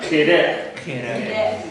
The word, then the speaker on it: chedek: Okay, so this is not a ch sound; it's a k sound. Okay, so that's why you will see it almost always spelled with a ch. But because some people don't get it, sometimes it's a KH sound.